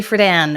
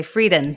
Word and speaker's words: Friedan: write this book yes Betty fan it's good to be reminded that that's actually how you say her name because I always want to say freden but Betty fan writes